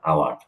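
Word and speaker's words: hour: ধরেন আমি শব্দটা লিখলাম আওয়ার, কারণ আপনারা সবাই জানেন এটার আগে এন বসে। আপনি যদি বর্ণ দেখে বসাইতেন তাহলে তো এখানে এ হওয়ার কথা, কিন্তু এখানে উচ্চারণ তো হাওয়ার না, এটার উচ্চারণ তো আওয়ার, এটার উচ্চারণ আওয়ার।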